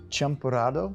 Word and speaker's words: champurrado: So the champurrado? Yeah, that's perfect. Okay. That's pronouncing it correctly?